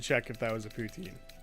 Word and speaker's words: poutine: Although some people would say I'm saying it wrong. Putin. No, I hate that. I'm not French.